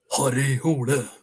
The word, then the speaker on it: Harry Hole: So, for example, again, I say Harry Hole, but if I got to sound like how it's pronounced in Eastern Oslo, where working class style, it would be Harry Hole, a bit more.